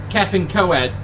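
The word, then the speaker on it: Cefn Coed: Like there's a place called Kevin Coed, not Kevin, Kevin Coed, I think you pronounce it as, but it looks like it's spelt like Kefan Coed.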